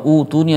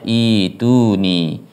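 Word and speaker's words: ائتوني: Ituni atau utuni atau bagaimana ya? Maka yang benar adalah dalam kalimat tersebut membacanya ituni.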